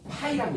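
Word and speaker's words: Φ: 자기 선속 뭐라고? 파이라고 읽어요. 아이의 동그라미야. 아이의 동그라미 있어. 파이라고 읽어요. 그래서 시간 변화에 대한 자기 선속 변화.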